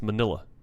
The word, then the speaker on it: Manila: molina i don't know why i keep saying molina it's manila enough of the english